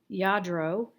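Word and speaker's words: Lladró: this is a vintage yadro figurine yes that's how you pronounce it yadro it is spanish so there you've learned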